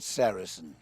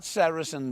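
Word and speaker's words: sericin: 18 amino acids an important one is called sarasin now you spell that s e r i c i n what serisin does as you sleeping it traps the moisture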